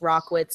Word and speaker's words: Rachwitz: you go all the way back so it's rock witz it's it's basically r c k wi TS is how you would pronounce it but obviously it doesn't look that